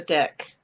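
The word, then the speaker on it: deque: figure out that import problem specifically uh a deck you want to import the deck from the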